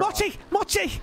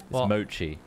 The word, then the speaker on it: mochi: to Steve and Jerry machi much machi this wrong this whole time but I now made it a unique word mochi that's what you should be sure is what that's how they pronounce in Japan Oxford Dictionary it says mode she's not moderator in the Western like english-speaking countries so but you can call